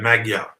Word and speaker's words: Magyar: referring to Maja okay if you were to basically pronounce m-a-g-y-a-r in English you'd go Magyar okay now English doesn't